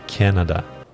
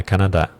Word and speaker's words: Canada: traveled to Canada, ou a pronúncia é Canada, não é Canadá. Vê que a ênfase está no Canada. No português está no Canadá. Então é quase que o inverso inteiro do nome do país.